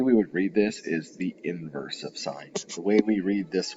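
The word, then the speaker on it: sin⁻¹: It looks like it just reads sine -1. That's not how we pronounce it.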